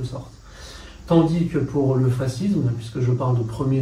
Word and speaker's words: fascisme: On prononce souvent fascisme parce que comme voilà, on estime que c'est un peu une importation italienne, on a tendance à récupérer la prononciation italienne.